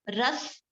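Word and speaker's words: रस: Sanskrit name, ras. Pronunciation, just understand pronunciation. Spelling you will get anywhere. Ras, or maybe I'll just spell it. R-A-S-A, ras.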